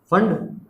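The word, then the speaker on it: Pfund: और एन अगर हमारा 5 हुआ तो क्या हुआ, फंड, P silent, फंड series.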